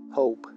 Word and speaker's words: hope: Recuerda que hope se pronuncia hope. Hope. Suena o. Hope. Igual que so. Suena o.